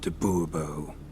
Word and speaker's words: du Bois: to the point Monsur fine monsieur du Bois the emphasis falls on the last syllable bull bull mmhmm yeah